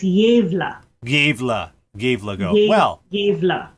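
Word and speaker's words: Gävle: But YouTube says it is, the A should rhyme with save, so it's Yevla.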